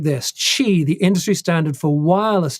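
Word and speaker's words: Qi: the symbol of the wireless power Consortium it's pronounced chi chi you say to pronounce it USBC uh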